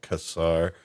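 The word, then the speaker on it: Quasar: And then in the case of the Fair Light, it is based on um the Casar, it's almost like quazar without a U. So I've heard it pronounced Casar.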